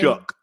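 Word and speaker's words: Shough: Tyler, how do you say pronounce that name? Shook.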